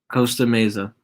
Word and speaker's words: Costa Mesa: Costa Mesa.